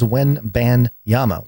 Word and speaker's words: Wembanyama: that his name is Wembanyama. Wen, like W-E-N. You know how everybody nowadays they don't spell Wen correctly; they spell it W-E-N. So Wen, ban, like getting banned. So Wen ban, Yama, which means mountain in Japan.